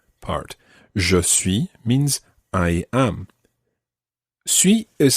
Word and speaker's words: suis: this je suis part josue means i am sui is spelt s-u-i-s french has many letters which end